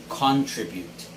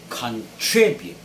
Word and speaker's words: contribute: of pronouncing this word so it has to be on the second syllable tree so it is contribute contribute fifth word is